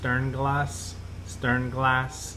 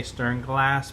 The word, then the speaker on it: Sternglas: best I can, but I believe it's pronounced Sternglas. I want to say Sternglas, but that's not it. That's my southernness trying to take over.